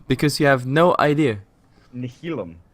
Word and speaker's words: Nihilum: couldn't pronounce Nihilum, because you have no idea. Nihilum.